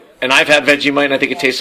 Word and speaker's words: Vegemite: She gave me a Vegemite Sang. Exactly. Right. Not not veggie mite.